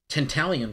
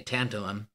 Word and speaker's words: tantalum: move our way to a uh talium capacitor or I should say tantalum I always pronounce that wrong uh which is a